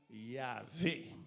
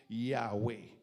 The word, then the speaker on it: Yahweh: Et ça, c'est le nom Yahvé. Yahvé ou prononcé Yahweh.